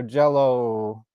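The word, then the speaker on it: Jellÿ: but the legend is they changed it to y with um blocks over it pronounced so jello right that was legit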